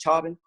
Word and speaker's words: Chauvin: I've been trying to figure out how to say his name. It's Chauvin.